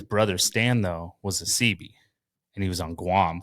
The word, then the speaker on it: Seabee: So CB, it's spelled SEABEE, right? Okay. But it really stands for the letter C and the letter B, Construction Battalion.